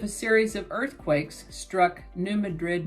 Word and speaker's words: New Madrid: series of earthquakes struck New Madrid Missouri or they might pronounce it New Madrid in that area Missouri on February 7 1812.